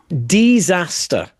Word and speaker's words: Desaster: It's it's DE. It's a bad name, because if we have to have this kind of discussion, if you have to spell it out and explain it to me, it's disaster with an E, not an I.